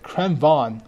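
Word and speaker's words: Krv: is in all right CR van like Vince Von all right CR Von there you go a lot of people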